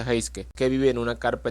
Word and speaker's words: Heisuke: Mientras que pues Luisin hacen las cosas de Luisin, conocemos a un nuevo compa llamado Heisuke, bueno, se pronuncia Heiske, que vive en una carpa en el techo de un edificio junto con su compañero periquito llamado Pisque.